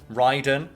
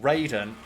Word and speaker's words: Raiden: called raiden and ryden it's spelt the same but the mortal kombat pronunciation is different and we have had